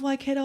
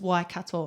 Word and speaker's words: Waikato: And the MC of that evening, she heard me and she goes, "You're saying it wrong. It's Waikato."